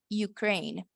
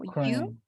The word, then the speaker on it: Ukraine: En inglés, Ucrania, ustedes seguro ya vieron en las noticias cuando pasó todo lo de Ucrania, se escribe así y se pronuncia Ukraine. Algo así como Ukraine.